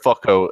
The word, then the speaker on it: Foucault: It's it's pronounced "fucko" as a goblin in Somebody's the still chat.